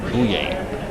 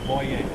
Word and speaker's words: Bouye: Okay, Mr. Bouye, how do you pronounce your last name? Boye. Oh, wow. Always have. All of his life. How's it pronounced? How's it pronounced, Bill? Boye. Thank you. Paul Boye has corrected our pronunciation.